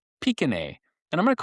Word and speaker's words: Pequignet: And you're going to hear me pronounce them Pequignet. The French is Pequignet.